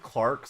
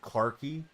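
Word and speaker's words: Clarke: Do you want to pronounce it clarky? Because I know I do. I know it's silent once I hear it pronounced, but I always wanted to be like Clarky.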